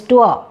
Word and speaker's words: tour: here sure it is not tour we indians pronounce it as a tour it is not tour it is touah okay okay double sounds okay now these are